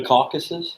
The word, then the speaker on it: Caucasus: It was a name given to the series of Axis and Soviet operations in the, how do you pronounce that word? The Caucasus? Yeah, in the Caucasus area of the Eastern Front of World War II on July 25th, 1942.